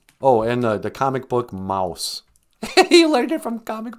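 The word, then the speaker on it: Maus: that's interesting well yeah mouse m-a-u-s spelled like a german way it's a comic book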